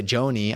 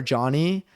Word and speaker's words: Jony: I I I I mean I say Johnny for my name cuz like I didn't know how to spell as a child. Uh but I but I spell it with one N. So when people say Joanie, I'm like I get it because of one N. That's why you're saying Joanie.